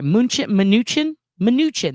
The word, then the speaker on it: Mnuchin: Mnuchin?